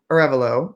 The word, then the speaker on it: Arevalo: I am so thrilled this week to have my guest, Andrew Arevalo.